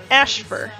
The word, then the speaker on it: Ashfur: the Russian word for moon landing, and it's pronounced Ashfur.